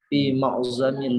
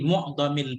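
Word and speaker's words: مُعْظَم: sendiri Imam Syafi'i, fi ma'zamil biladi, fi ma'zamil ya. Ini bacanya mu'dhab, fi mu'dhamil bilad.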